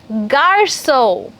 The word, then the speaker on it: garçon: So, garco becomes what? Garso. Very good. So, whensoever there is a little upside down C under the C alphabet in French, it's always to be pronounced as S, soft sound.